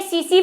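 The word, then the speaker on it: tsetse: है नहीं एक यह सी सी फ्लाइट यह बहुत फेमस है देखो इसकी स्पेलिंग बढ़िया है इसको इस स्पेलिंग पर मत जाना यह सीसी फ्लाई बोलते हैं इसको जब हम छोटे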